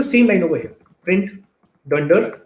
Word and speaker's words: dunder: The way you would pronounce this is you would say Dunder name.